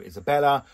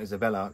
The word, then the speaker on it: Isabel: I adored sort of the character growth of Isabella. Isabel, not Isabella.